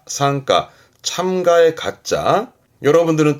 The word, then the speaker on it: 参加: 발음은 상가, 상가, 참가의 가짜.